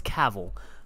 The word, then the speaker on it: Cavill: Gavin Cavill that's cool it's Cavill but my boy he's just he's done and